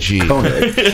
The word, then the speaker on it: Koenig: How do you pronounce Ryan's last name? Koenig.